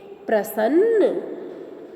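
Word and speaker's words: प्रसन्न: That is half ra, and pronunciation will be pra, sa, and there are two na. one half na, one full na.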